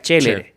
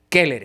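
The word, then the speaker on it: Celeres: en latín, recordemos eso, en latín la C no se pronuncia, se dice se dice K. Okay. Okay. A menos que hagamos una pronunciación de latín en términos eclesiásticos, que ahí se pronuncia como en italiano. Entonces sería chéere. Sí. Okay. Pero si lo queremos hacer como el latín clásico correcto que hablaba el buen Cicerón, se dice kere.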